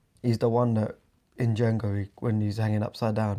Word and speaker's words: Django: He goes, F you, the Django. When he shoots him in the balls. And he goes, a D is silent.